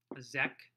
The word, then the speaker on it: Zek: Then the last song on the whole album is called Zek, and it's spelled Z-E-K.